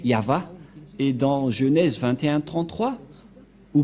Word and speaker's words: Yahvah: y c'est l'alphabet hébreu qui est prononcé yava et dans Genèse 2133